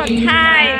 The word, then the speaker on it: tie: Tai tulisannya T-I-Y. Oh, Tai, bacanya ya.